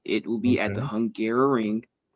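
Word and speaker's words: Hungaroring: everybody to know if you don't know the name, it is called the Hungarrow Ring. It So it does sound like I was just mispronouncing Hungary trying to say it a second time.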